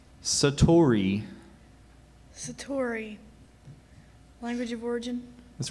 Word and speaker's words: satori: of Zen Buddhism Satori are there any other pronunciations just Satori s a t o r i Satori that's